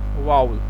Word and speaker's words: vowel: आप जिसे वॉवल पढ़ते हैं इसकी करेक्ट प्रोनाउंसिएशन है वाउल।